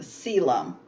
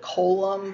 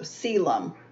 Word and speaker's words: coelom: you would pronounce it column but that's not how it's pronounced it's a um the uh the first o i guess is silent let's put it that way so celum now all of the